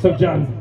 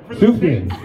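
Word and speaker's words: Sufjan: Sub John...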